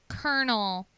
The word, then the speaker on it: colonel: well one side sidebar where's the r in colel like why is it pronounced Colonel there is no r in it I have questions answer somebody please call in and tell me why it's pronounced kernel when there is no R in the word that's like my dad's